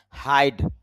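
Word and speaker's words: high: Hide, লুকানো বা আড়াল করা। হাই, উঁচু, উচ্চ বা অধিক। মনে রাখবেন, GH একসাথে থাকলে লিখায় আসবে, উচ্চারণে আসবে না।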